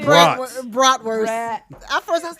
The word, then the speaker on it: bratwurst: It's spelled BRATWURST, and I said BRATWORSE.